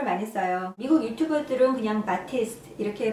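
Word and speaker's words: Batiste: 사람들이 드라이 샴푸를 많이 써요 미국 유튜버들은 그냥 바티스트 이렇게 발음을 하는 거 같은데 저도 처음에는 드라이 샴푸가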